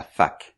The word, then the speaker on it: fac: On appelle ça aussi la fac. Oui, je sais, ça n'a pas un son très agréable pour les anglophones, mais ça s'écrit F-A-C.